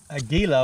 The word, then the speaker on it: Aguila: All right, let's try, out of curiosity, I have some Aguila, I believe is the way to pronounce this stuff.